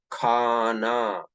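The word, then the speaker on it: کھانا: तो इसको क्या पढ़ेंगे तुम्हें, खाना। समझे ना? खाना खाना। अब देखो, खा, हा काफ के साथ मिल गया बोलने में।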